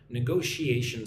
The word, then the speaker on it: negotiation: Those are negotiation skills. Look at that long word, she-a-tion. Gotta get those sh sounds.